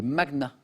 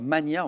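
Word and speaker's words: magnats: en en Hongrie les magnaas voilà qu'on prononce improprement parfois Mania en France mais c'est magna désolé Emmanuel que ce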